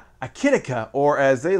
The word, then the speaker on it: Akitika: sith audio holiday helpers the tikka that's how they say it akatika even though there's no a right there it's an eye i say akitika i guess you can